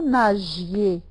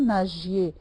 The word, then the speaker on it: nagiez: bien c'est bien vous nagiez vous nagiez g avec I ça se prononce g hein ce n'est pas comme avec a donc vous nagiez très